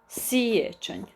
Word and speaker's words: siječanj: And January is siječanj. Siječanj. And it is maybe kind of hard to pronounce because we have ch and nj.